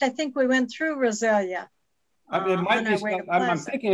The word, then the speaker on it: Rosalia: Rosalia is how you pronounce that.